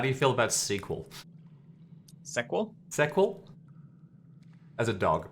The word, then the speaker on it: SQL: I'm familiar enough to tell you it's pronounced sequel.